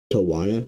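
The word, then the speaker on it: Tijuana: And Tawana, I believe that's how you say it actually.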